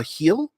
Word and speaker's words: Hel: Rickard says, nah, you pronounced it pretty much hell. Yeah, heel, pronounced heel.